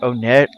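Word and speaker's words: Onett: town in Eagle land there's no official pronunciation for the name Iowa's pronounce it o net some people might pronounce a one-day door on it or whatever I always pronounced it o net even back hid mail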